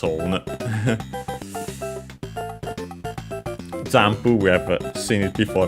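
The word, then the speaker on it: ジャンプ: Jampu, we have seen it before, but it should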